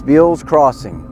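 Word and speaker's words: Beale's Crossing: That's spelled B E A L- S, Bill's Crossing.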